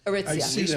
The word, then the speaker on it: Aritzia: Well, that's how you pronounce that. Aritzia.